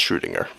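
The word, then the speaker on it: Schrödinger: have major consequences consider the classic example of shringer cat yes it is pronounced shringer my cat has been locked in a room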